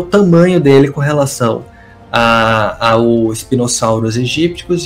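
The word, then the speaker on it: Spinosaurus aegyptiacus: Spinosaurus aegypticus, a melhor pronúncia é essa mesmo.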